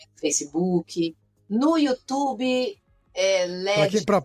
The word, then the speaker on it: LEDS: que tá no Instagram, tem também no Facebook, no YouTube, eh, Leds, para quem para quem ficou em dúvida, LEDs é como se fala, tá? L E D I S.